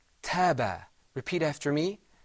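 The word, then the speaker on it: تاب: The first word is pronounced taba.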